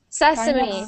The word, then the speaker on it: sesame: is but um anyways that's pronounced Sesame and that's another one you would think it's same because it has the word same next one please them